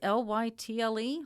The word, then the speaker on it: Lytle: Developed by Lytle, that's L-Y-T-L-E, Lytle, S. Adams, I can pronounce Mr.